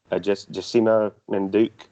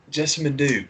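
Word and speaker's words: Jessamyn Duke: The Alexander Wolf, Vanessa Bourne, and Jessima, I can never say her name right. Jessima Manduke. One. Jessamine Duke. Yeah, that was it.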